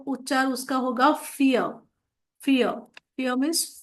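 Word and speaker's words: vier: 2 का, 3 का ड्राई, 4 का फियर। फियर जैसे कि हमने अल्फाबेट्स में कहा था वी इज फाउ, तो वी का प्रोनाउंसिएशन फाउ है, इसीलिए वो उच्चार उसका होगा फियर।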